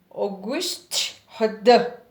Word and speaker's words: Auguste Rodin: rodin chamada pensador o nome auguste rodin é pronunciada como o ghost radar bo e o ghost ele é francês não